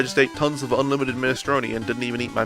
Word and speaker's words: minestrone: Oh yeah, they seem to have a pronunciation thing. Here, I'll mute the game again just to listen to this one. Minestrone.